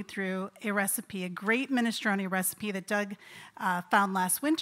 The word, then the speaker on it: minestrone: to be our minestrone is it minestrone do I say it like that okay perfect thank you